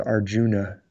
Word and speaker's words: Arjuna: the picture of arjun it's spelled arjuna but it's usually pronounced arjun who is very capable